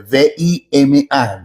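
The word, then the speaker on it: βῆμα: Se escribe v larga, V grande, V i M a. Vima, algunos lo pronuncian V.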